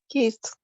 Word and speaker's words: kissed: Kissed. Okay, very nice. We have to use that T pronunciation because in this case, double S sound like S, S on a stress consonant.